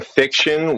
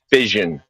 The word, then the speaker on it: fission: You're saying fiction, which means made up and imaginary? No. I think you're No. trying to say fission.